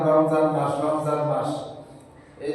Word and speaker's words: রমজান: যেমন আমরা অনেক সময় বলে থাকি রমজান রমজান মাস রমজান মাস এই যে রমজান রমজান শব্দ বলি এই শব্দটি হচ্ছে মূল উচ্চারণ ভুল শব্দ সঠিক উচ্চারণ হচ্ছে রমাজান মিমের মধ্যে জজম না জবর লাগাইতে হবে রমাজান এই শব্দটি হল সঠিক শব্দ।